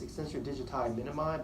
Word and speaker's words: extensor digiti minimi: Now the correct pronunciation is extensor digiti minimi, but I like to say digiti minimi. I don't know why it's just funnier that way, but it's a slender muscle.